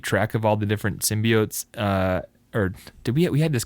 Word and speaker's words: symbiote: It's kind of hard to keep track of all the different symbiotes. Or did we had this conversation last time about how to pronounce this word?